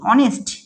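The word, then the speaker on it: honest: সেটা এবার পরে দেখি তাহলে দেখ অনেস্ট এই অনেস্ট কিন্তু এর আগে আর্টিকেল হিসেবে কি ইউজ হবে আর্টিকেল হিসেবে ইউজ হবে কেন হবে দেখো তোমরা বলবে যে এইচ কি এইচ একটা কনসোনেন্ট তাইতো এইচ একটা কনসোনেন্ট তাহলে কনসোনেন্টের আগে আমরা কি বলেছিলাম যে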